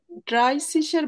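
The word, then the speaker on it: dreißig: তো double S এর উচ্চারণও এস এর মতো, এজন্য আমার সিসি উচ্চারণ হচ্ছে, বানানটা জাস্ট এরকম।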